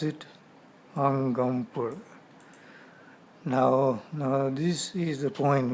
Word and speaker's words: Angampora: Okay, how do you pronounce it? Angampora.